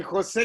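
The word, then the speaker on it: José: jose jose california okay like san jose california you know jose so we will start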